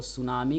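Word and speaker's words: tsunami: बाद सुनामी Japan मिट्टी सुना में लिखा होता है सब है जिसे सुनामी पढ़ा जाता है कि साइलेंट होता और यह जापानी सब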